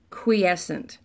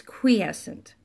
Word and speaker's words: quiescent: have seen and you have mispronounced it is pronounced quiescent let's spell it qu I e SC ent so it looks like quiet sent but its quiescent pronounced quiescent again qu i e SC ent nine letter